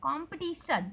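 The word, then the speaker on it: competition: Just like कंपटीशन है ना, कम्पटीट। तो आप लोग देखें कंपटीशन, कंपटीशन तो टी में ज़्यादा हम लोग को स्ट्रेस देना है ना, कंपटीशन, कंपटीशन टी में स्ट्रेस देना है, टी को ऐसा खींचना है।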